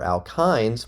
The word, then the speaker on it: alkyne: The suffixes for alkenes, meaning one double bond, or alkynes, y n e is pronounced -yne, alkyne, for one triple bond.